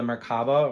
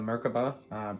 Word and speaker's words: Merkaba: It's called the Merkaba or the Merkaba. People have different pronunciations, but it's a vehicle to really get